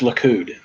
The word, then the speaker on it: Likud: you feel any better i think you sped that wrong it's likud oh well i i'm